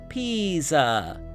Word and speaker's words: Pisa: It is Italian, so the S is pronounced like a Z, and the I sounds like E. Think of a P like a green pea, and then say za, Pisa.